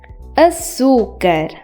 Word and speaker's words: açúcar: For example, coração, açúcar. Notice how they are in front of A and U? The C was supposed to be pronounced as K, but because it has a tail, it is pronounced as S.